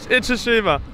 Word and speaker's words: Itoshima: Okay, start with one syllable. It. It. Oh. Oh. Shima. Shima. Now put all three together, Jorden. Iridilima. Gold star. Itoshima.